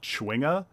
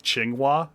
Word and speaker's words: chwinga: god yeah yeah i think it's like supposed to be like uh chwinga but i kind of like qinghua i don't know why i like sticking an extra w i just feel like it's pronounced better that way even if it's wrong i mean i like